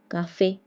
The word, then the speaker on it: café: L'accent aigu is placed on E and it sounds like A like A in English. For example, débutant. Débutant means beginner. Étudiant. Étudiant means a student. École. École is a school. Café. Café. Cafe. Marché. Marché is a market. It's pronounced as A.